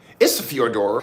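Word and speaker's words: Ísafjörður: side here good day good day from Isidor isor that's how you say it Isa Iceland and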